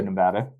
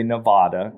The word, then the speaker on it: Nevada: One of the things that I want to commend you on, Bem, is you're relatively new to Nevada. Congratulations for realizing you don't say Nevada. You say Nevada.